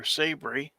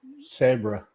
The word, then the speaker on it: Sabra: Or Sabry. How is that pronounced? Is it Sabry or Saber? Sabra.